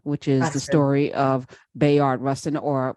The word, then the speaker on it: Bayard: is the story of Bayard Russian or would you say Bayard yeah a lot of people say by yard all right b-a-y-a-r-d however wherever you come from whatever syllables you mean in your mouth right um Coleman Domingo